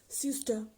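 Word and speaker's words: søster: For sister, in Danish, it can be pronounced as syster, syster.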